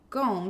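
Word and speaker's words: Gaum: Gom, it's pronounced actually Gom, so G-A-U-M.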